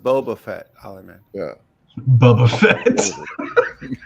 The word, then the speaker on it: Boba Fett: It's pronounced Boba Fett, Ollie man.